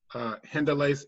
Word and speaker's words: Hendelace: Oh, and Davey and Caleb, you guys were not here when I explained that it was founded by Hendelace Vazaban, and that's spelled HENDELACE.